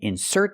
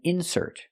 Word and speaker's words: insert: and that's a verb they mean different things depending on where you put the stress so it's correct to say you can insert the card putting the stress on the second syllable because it's a verb example this is an insert it's a noun it's something inserted in the magazine it's called an insert it's a noun we put the stress on the first syllable this is an insert